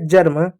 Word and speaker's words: germ: जब किसी वर्ड में ई के बाद आर आए तो उसका उच्चारण हल्का अ होता है।